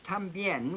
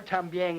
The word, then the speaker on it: también: They have a word in Spanish, también, which means also. T-A-M-B-I-E-N is the way it's spelled. But the speakers of Spanish, very frequently, particularly around Puerto Rico, for instance, will say both también and también.